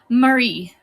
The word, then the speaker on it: Mari: Also, is your name pronounced Marie or Murray? Oh, Marie. Mari. Oh my goodness. I can't pronounce this right. Mari. So, like, your A's are in capitals. Ma. And then Ri.